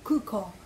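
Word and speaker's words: 空港: Naka-emphasize talaga ang U tsaka O. Kaya yung nakakagandahan, no? Kasi kailangan mo talagang i-pronounce it correctly, kuko.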